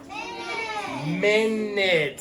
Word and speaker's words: minute: to the next one minute okay so this one's fun too because Min that sounds like an i instead of a u and this doesn't say